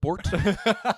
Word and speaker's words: Bart: South Dubliners were very confused in the episode where they say, "My son is also called Bort," because we pronounce Bart as Bort, so they're the same name as far as we're concerned.